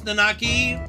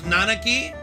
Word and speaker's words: Nanaki: boy so I am glad to learn how to pronounce nakaki as nanaki but I'm probably still going